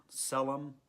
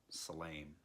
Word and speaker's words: צלם: different shiva and sarah so it's pronounced silane hebrew selim aramaic silane now in genesis it